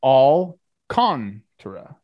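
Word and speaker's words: Alcántara: you can and i'll the pronunciation key on baseball reference is all kong tara but i agree people say it differently all the times i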